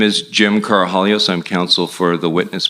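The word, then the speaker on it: Karahalios: thank you Mr Mather my name is Jim carahallios I'm counsel for the witness Mr Victor the last name is spelled k-a-r-a-h-a-l-i-o-s uh thank you Mr commissioner for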